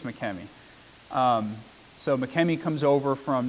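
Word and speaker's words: Makemie: We previously covered Francis McKemmy, and as I've said, I'm pretty sure that's how you say it. You'll hear it pronounced other ways, but I think it's McKemmy.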